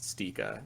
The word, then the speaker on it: ST1KA: ST1KA, I think it's pronounced Stika, but he does a lot of good stuff.